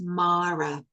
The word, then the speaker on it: Māra: So it's marra. So it's marra. So the this this a is short and this one is long. So just a little tidbit there on pronunciation.